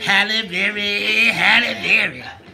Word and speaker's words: Halle Berry: Halle Berry.